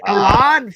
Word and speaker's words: Alan: So is it pronounced? Is it Alan Faneca? Faneca. Or is it pronounced Alon? I'm both. He's Alon Faneca. Oh, that's where he got Alon. That's where I fucked up. It was Alon Faneca.